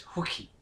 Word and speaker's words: Hulk: haven't they oh yeah Hulk or as as you pronounce his name properly is hookie believe it or not